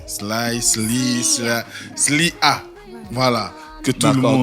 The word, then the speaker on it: Sly'A: Sly A. Voilà. Que tout le monde. Donc officiel, on dit quoi? Slia, voilà.